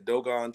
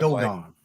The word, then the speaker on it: Dogon: I'm sure everybody's heard of the doggone how you say it, the Dogon tribe. Dogon.